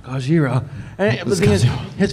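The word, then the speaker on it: ゴジラ: And No, you said it wrong. It's Godzilla. Gojira.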